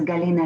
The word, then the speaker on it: Galina: your background is and galena i would like to hand over the floor to you first thank you lena my name is galina it was absolutely correct pronounced yeah i'm from belarus